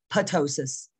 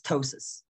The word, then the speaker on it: ptosis: i always get tongue-tied the p is silent so it's not potosis it's ptosis blepharoptosis and vision that's